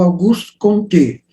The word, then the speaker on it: Auguste Comte: Aqui é Augusto Comte, ou Auguste Comte, né? Aí uma pronúncia mais francesa.